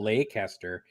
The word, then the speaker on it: Leicester: how to pronounce Noel Leicester sounds like Lake Astor no boats and no